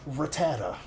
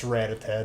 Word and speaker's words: Rattata: metal from the future it's like when they said Rattata it's ritad dude please next if you say Rattata you got you got hit in the head a couple times you to go get a doctor appointment get it checked out